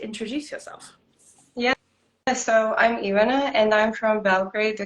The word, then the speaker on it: Ivana: How do you pronounce it? Ivana. Ivana. Stress on that first syllable.